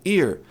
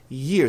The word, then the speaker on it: year: E se você errar a pronúncia, se você pronunciar ano como ear, você vai estar pronunciando orelha. A pronúncia de ano é year. Tem que acrescentar um i antes desse i aí com centro agudo. Então ao invés de ear, year year, year year.